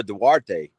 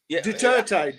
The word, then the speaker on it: Duterte: For when I was Philippines, it was before Darte. Hopefully I'm pronouncing that right. If you gone Well, Dre, you would have Derte. Whatever. Duterte. Duterte. Yeah. Duterte.